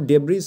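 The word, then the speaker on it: debris: moving past burning ডেব্রি ডেব্রিস হবে না এটার উচ্চারণটা কিন্তু ডেব্রিস হবে না এসটা কিন্তু সাইলেন্ট থাকবে ঠিক আছে ডেব্রি উচ্চারণ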